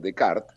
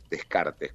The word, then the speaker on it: Descartes: que el famoso filósofo de Cart, Descartes, como algunos lo llaman, porque así se escribe, ¿no?